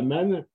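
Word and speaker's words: מָן: Mais ce qui est certain, c'est que la manne, quand les gens disaient c'est le pain qui tombe du ciel, eh bien, le pain, ça veut dire en hébreu, ça se prononce man, manou, et ça veut dire quoi?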